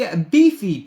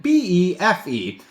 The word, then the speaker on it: Befe: If you think about it, it should be Befe. It could be pronounced that way, but the Pepe here is a beefy, very beefy, so it's safe to assume that the token's name is Befe.